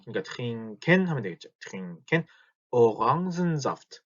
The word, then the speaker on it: Orangensaft: 이거 이 읽는 방식은 프랑스어 계통으로 읽기 때문에 orange 이게 몇몇 단어들이 그런 뭐랄까 프랑스어 계통들의 단어들이 있어요. 그래서 Orangensaft 이렇게 오랑겐 하지 않습니다. Orangen 이거를 orange라고 읽기 때문에 Orangensaft가 됩니다.